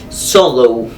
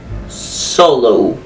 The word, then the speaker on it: solo: many english speakers that when they say words that finish in the letter o they usually pronounce it like oh like for example solo solo solo why because i don't